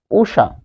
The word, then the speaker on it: উষা: এরপর উষা, তাহলে দীর্ঘ মূর্ধন্য ষ, মূর্ধন্য ষ এর উচ্চারণ হয় তালব্য ষ দিয়ে, তাহলে মূর্ধন্য ষ থাকার কারণে তালব্য ষ, আর রস্য দীর্ঘ থাকার কারণে রস্য, এই যে উষা।